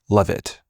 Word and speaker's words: Leavitt: Uh, it's it's I know it's pronounced Levit.